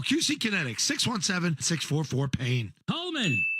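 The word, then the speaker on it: Kuhlman: how to spell it it's not Coleman it's Coleman I know same thing right that's the problem but our Coleman is German like Colonel clink so it starts with a K yeah let me spell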